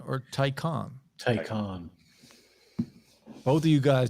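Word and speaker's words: Taycan: got him what you almost know is it pronounced tykan or tycon tycon both of you guys just said a different answer i've only heard it called tyken t-a-y-c-a-n peter says the room inside is fine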